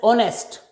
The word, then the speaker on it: honest: most of the words if o is followed by h at the initial position h is silent of course there are